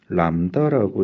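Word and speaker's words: λ: 우선 파장 얘는 람다라고 읽습니다.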